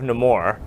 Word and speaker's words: Namor: But when I was on Facebook and Instagram, I saw somebody post a picture of Namor.